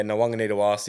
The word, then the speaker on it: Nawaqanitawase: Yeah, Nawaqanitawase, it's going to be a big loss for the game and Roosters.